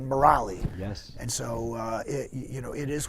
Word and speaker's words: Murali: Santana's was Devadeep, and John McLaughlin's was Mahavishnu, and I was given a spiritual name, Murali, which is how they pronounce it in India.